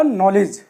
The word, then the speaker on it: knowledge: दी अब यहां पर देखिए एन से पहले आया है के तो यहां के और एक चीज आपने और भी पड़ी थी की जब किसी शब्द के लास्ट में आता है तो अब साइलेंट होता है यह तो इसमें तीन शब्द साइलेंट ही है तो ये हो गया